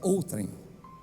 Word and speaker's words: outrem: palavra paroxítona Amém então é uma pronúncia é outrem tá a ênfase está na primeira sílaba ou trem não é o trem o trem é coisa